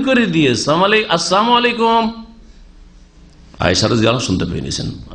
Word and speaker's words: আসসালামু আলাইকুম: বলতে গিয়ে আসসালামু আলাইকুম আজকাল অনেক মূর্খ মুসলমান আসসালামু আলাইকুম বলেন লামটা উচ্চারণ করেন না সালাম আলাইকুম মানে সাম মানে মৃত্যু সাম মানে মৃত্যু মানে আপনাদের মত হোক সাম আলাইকুম মানে কি আপনাদের মত হোক মরে যান আপনারা ধ্বংস হন তো এইরকম